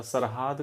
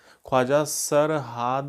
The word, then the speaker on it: ख्वाजा सरहाद: और Edward Stephenson, ख्वाजा सरहाद, कहीं कहीं ये शेरहूद या सरहूद लिखा हुआ है जो कि गलत है, इसका सही उच्चारण ख्वाजा सरहाद है।